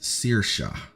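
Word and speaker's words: Saoirse: If you have ever made the journey to the red dragon's lair we call Na Saursi, how do we pronounce this? The name is pronounced Sirsha.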